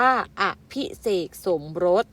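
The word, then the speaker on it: อภิเษกสมรส: ตั้ง จิต ปรารถนา มี อภิ เสก สมรส อ่าน ว่า อภิเษก สมรส หมาย ถึง แต่ง งาน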